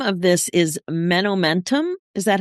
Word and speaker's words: Menomentum: So the name of this is Menomentum. Is that how you pronounce it?